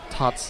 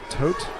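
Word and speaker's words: Tóth: uh help me out I've been mispronouncing uh tot's name it's tot Benedict Benedict not tote my apologies but at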